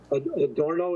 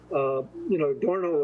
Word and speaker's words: Adorno: Adorno, is that how you pronounce it? Adorno, yeah.